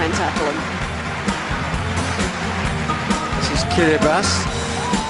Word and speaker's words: Kiribati: tackle them this is kiribati looks like kiribati but a tea followed by an eye is pronounced as an s in this country 33 islands in the